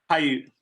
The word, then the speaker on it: Paiute: if I'm mispronouncing this, Paiute, Charlie, can you pronounce that for us? I do not want to mess that up. Paiute.